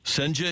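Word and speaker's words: Cijntje: Durangelo Senja is it pronunciation? Senja. So, okay. Like sane, is Greg Amsinger sane?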